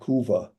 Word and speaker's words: Cuba: would say Havana Kuba but it's actually Habana Kuba Kuba Kuba like a Q huh cu Va